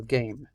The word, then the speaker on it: game: How do you spell game? G-A-M-E. We don't say the E, but it changes the A.